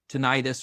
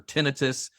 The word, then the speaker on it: tinnitus: Um and the so that experience is exactly what caused tonitis or tenitus. Uh depending on who you are, how you say it, but um it for me it is a for some people it's ringing.